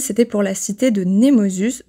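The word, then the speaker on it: Nemausus: pour la cité de nemosus je prononce à la française désolé mais tu connais aussi le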